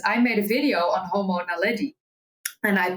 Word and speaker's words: Homo naledi: Because I made a video on Homo naledi and I pronounced it as Homo naledi.